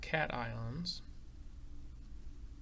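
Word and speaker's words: cation: of ions we've got cat ions which again it looks and it's spelled just like it um like it sounds got cat ions and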